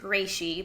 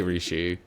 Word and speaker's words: Reishi: over there, but I know you're supposed to pronounce it Reishi, but I thought Reishi was a little cuter. Yeah, you could say Rishi.